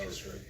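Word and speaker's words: Eilistraee: think that's how they pronounce it in the audiobook that I listened to. Elistray.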